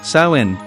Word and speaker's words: Samhain: The origins of Halloween can be traced back to the ancient Celtic festival of Samhain, pronounced Samhain, celebrated over 2,000 years ago in what is now Ireland, the United Kingdom, and northern France.